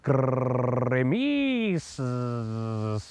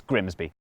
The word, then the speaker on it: Grimsby: But what if we told you it was pronounced Grimis? We'd be lying, it's Grimsby.